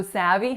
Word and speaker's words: savvy: So savvy has 2 syllables and each of the vowels is tense. So that first vowel is a. So it is not the same thing as a that we find in most of the European languages, right?